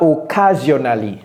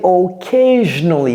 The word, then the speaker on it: occasionally: ce n'est pas c'est ok ce n'est pas occasionali ce n'est pas US ça c'est occasionally encore une fois c'est comme si c'était un J ça dire dans 30